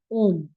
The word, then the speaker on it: ओम: अगर आपको उच्चारण करना हो तो दैट्स अ मंत्र ऑफ ओम। ओम तीन शब्दों से मिलके बना है। अ, उ और म।